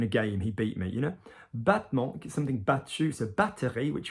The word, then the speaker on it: battement: Okay, battement, battement. So battement, okay, battement, okay? Not a hard T, not battement, not battement, like battlement or anything.